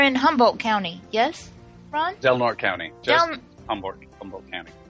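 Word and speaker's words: Del Norte: California what you're in hanul County yes Ron delnort County just humor bu County oh okay okay delmare delort delort it's supposed to be pronounced delort oh okay of the north but nobody here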